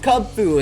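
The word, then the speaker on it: Kubfu: you could tell that they were fighting types Cub Food and that's how you say his name I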